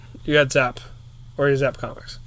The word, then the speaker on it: Zapp: Don't say Zaps. It's Zapp. But if you can divide yourself, and you're here and in Manalapan, you're at Zaps.